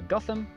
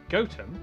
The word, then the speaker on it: Gotham: tower sester toaster then a quick jaunt to gotham goatum followed by a stop in kwonmore kwama before